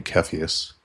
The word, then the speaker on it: Cepheus: And then we have Cepheus, the crowned king, or if you're pronouncing it in Tolkien Elvish, it would be Cepheus, because C's are pronounced like K's.